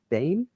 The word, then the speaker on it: Bain: is it Bain? Yeah, Bain. Aim with the B. Bain.